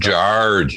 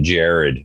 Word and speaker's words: Jard: And they also make like it's pronounced Jard, not Jared.